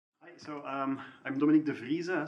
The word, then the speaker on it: Devriese: So I'm Dominique Devriese, so you were not that far, so that's I've had French people pronounce it as Devriese, so that's maybe more creative but less accurate.